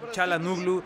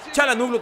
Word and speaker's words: Çalhanoğlu: Nos enfrentamos a Hakan Çalhanoğlu. Ya, si así se pronuncia, Çalhanoğlu.